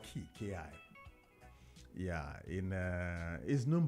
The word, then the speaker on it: ki: hii yes chi in Japanese it's called KY Ki yeah in uh is known by different names